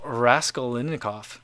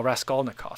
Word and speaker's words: Raskolnikov: sense all right um daniel raskellinikov asks i think i said that right the first time rascal oh raskolnikov sorry i hope i said it right the second time so